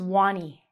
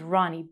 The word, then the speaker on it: Ronnie: said, my name is Wani. Well, that's not my name. My name is Ronnie. But children have a hard time pronunciating, like me. They have a hard time saying certain letters.